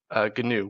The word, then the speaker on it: GNU: continued develop to develop canoe which is spelled GNU it's got a great